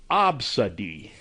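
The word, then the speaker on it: Abcde: to pronounce the customer's child's name, which was Absadi. That's spelled A-B-C-D-E.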